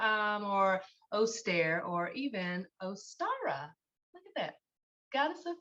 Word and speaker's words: Ostara: a little bit about ostara which um I think it's interesting that her her name ostara um the star part in the pronunciation is what's highlighted or accentuated um so star is